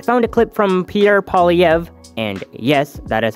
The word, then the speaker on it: Poilievre: The simplest way for an Anglophone to say it is Poilievre, but it has been said many different ways.